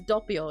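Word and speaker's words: Doppio: I'm one of the people that says Dopio instead of saying Dopio because that's that's how it should be pronounced cuz it's Italian.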